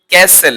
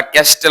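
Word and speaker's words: castle: তারপরে আমরা বলি ক্যাসেল। এটা কি উচ্চারণ? সাধারণত ক্যাসেল বা ক্যাস্টেল অনেকে ভুল থাকে, ভুল বলে থাকি। তার এর উচ্চারণ হচ্ছে ক্যাসেল, নট ক্যাস্টেল বা ক্যাসেল।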